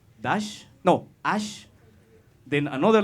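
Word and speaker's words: Æ: The full name is X, the letters A-E, but together, which it's pronounced dash, no, ash, then another letter A, dash, X, Y-Y, which in Romance means 12.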